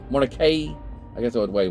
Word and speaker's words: Mordecai: It was also sometime in Moses Mordecai's lifetime that the pronunciation of the family name Mordecai shifted from the traditional long I ending to a long E. I guess Mordecai, Mordecai, I guess you would say. Mordecai, I guess that's the way what it would be.